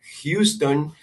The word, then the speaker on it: Houston: Por ejemplo, en la palabra Houston, ponemos una H y se pronuncia, pareciera como una J, pero es muy suavecita.